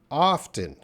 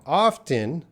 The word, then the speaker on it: often: sound in the word often now often has two pronunciations so sometimes there's no t sound often and sometimes there's